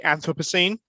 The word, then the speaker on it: anthropocene: correctly pronounce it oh i think that where it depends on which side of the pond you are i think so i say anthropocene but that's just because i'm a brit so i'm not convinced